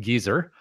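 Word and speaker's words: Geysir: that particular one, Geyser, or as it's pronounced in Iceland, Geyser, is the first known geyser discovered by people.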